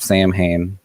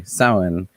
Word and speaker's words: Samhain: if you're not familiar it's not samhain people will murder you over that pronunciation just going to warn you sauen mh is generally in irish i get it because irish lesson why not mh is generally silent-ish when you're like reading